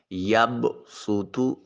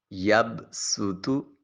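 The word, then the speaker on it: يبصط: ہیں۔ پہلا لفظ ہے یب سوتو۔ یب سوتو صاد کے ساتھ لکھا ہوا ہے اور اس صاد کے اوپر سین لکھا ہوگا۔ ہم نے صاد کی بجائے سین کا تلفظ کرنا ہے۔ صاد اور سین میں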